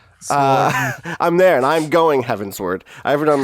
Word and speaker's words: Heavensward: I've made it to heavensward which is not me mispronouncing heavens sword nor is it them invent I think that's what it was no it's heavensward now maybe but is